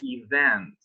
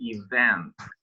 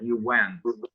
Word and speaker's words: event: wanted to notice is when you pronounce the word event, it should be event. V is when you use your lower lip, like event. So please pronounce it. Event. Event. Event. Yeah, you cannot pronounce like that. You went. That's a very different word.